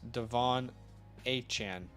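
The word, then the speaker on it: De'Von Achane: one of his A&M interviews he said it's pronounced Devon aan yep yep Hunter Henry Musgrave that is a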